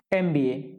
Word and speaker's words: MBA: अब MBA जो शब्द है ना, देखो वो देखने में तो कैसा लग रहा है कि व्यंजन से शुरू हो रहा है, व्यंजन से शुरू हो ही रहा है। ठीक है, शुरू तो वो व्यंजन से हो रहा है, लेकिन इसको पढ़ते क्या है? इसको पढ़ते हैं MBA, master of business administrative